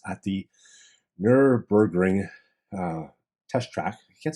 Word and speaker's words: Nürburgring: A camouflaged Tesla Model S spotted tearing up Nürburgring.